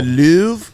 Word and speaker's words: Louvre: like they should hang that in like the lover or whatever you know what I mean whatever it's called the Louvre the Louvre thank you I always forget how